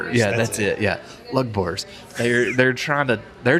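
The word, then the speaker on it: Lugbúrz: Again, I'm going to butcher these. Lugburz was a name Lugburz, yeah. Lugburz Yeah, that's it. Yeah. Lugburz.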